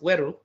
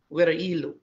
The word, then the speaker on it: Woro-Ilu: So the region of W-E-R-E, pronounced Weru, and I-L-U, Woro-Ilu, right?